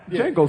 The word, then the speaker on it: Django: was still a slave I was more like Jango sir no is J J no simple simple but but the thing